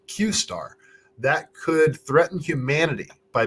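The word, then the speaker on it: Q*: recent breakthrough open Aid ey discovered called Q pronounced qar that could threaten Humanity by being a first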